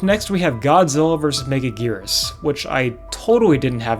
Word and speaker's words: Megaguirus: Up next, we have Godzilla versus Megaguirus, which I totally didn't have any trouble pronouncing right before this. Godzilla versus Megagui- Megagui- Megagui- Megagui- Probably should have looked that up beforehand. Megaguirus.